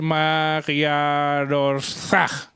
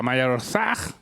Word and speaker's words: Magyarország: pero lo voy a decir yo, que es Magyarország. Parece ser. A ver, léelo. Aquí, ahí primero. Magyarország. A ver, Pipica con su acento. En el segundo párrafo, Pipica, Magyarország.